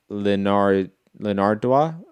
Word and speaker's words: Linardatou: Katie Taylor and Christina Linardatou. How do you pronounce that name, Rob?